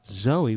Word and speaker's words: Zoe: of Art and Design my name is pronounced Zoe with a z so instead of a j it's Zoe Zoe mouth yeah Zoe